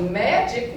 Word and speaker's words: magic: So magic would go as a soft G.